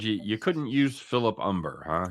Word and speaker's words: Humber: you couldn't use philip umber huh it's philip humber not umper no they actually this number it's not it's spelled with an h but you don't pronounce it just like mine yeah